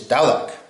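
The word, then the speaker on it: dewdhek: Now, number 12 is dalek.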